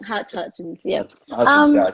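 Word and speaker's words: Hutchence: No, I mean you can't forget NXS and Michael Hitchens. Hutchins, yep.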